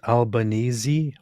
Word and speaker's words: Albanese: It is pronounced Albanesei. What? Why?